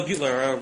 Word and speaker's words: Beutler: Is that how you pronounce it? Right. Bill Beutler, William Beutler or Bill Beutler, those are both correct.